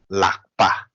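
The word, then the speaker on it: ལག་པ: So when we spell out la, ka, lak, la, ka, lak. Yeah. So as Cynthia said, something like this. We doesn't produce the a sound. Okay. La, ka, lak. And then we have pa, lak, pa. Okay. La, ka, lak, pa, lakpa.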